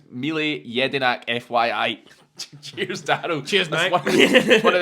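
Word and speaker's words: Jedinak: Pronounced Mle Yedinak.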